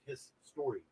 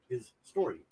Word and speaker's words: HIStory: The album would be pronounced His Story. His Story. That's actually how it's pronounced.